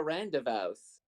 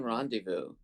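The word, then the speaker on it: rendezvous: I like hey guys let's go on a Rand devous oh and then they would be like I think you mean randevu I like Randal because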